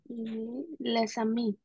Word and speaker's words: les amis: Alors, ici, on va prononcer les ballons et les amis avec la liaison, bien évidemment. Les amis et les ballons. D'accord? Parce que le S, on ne prononce pas.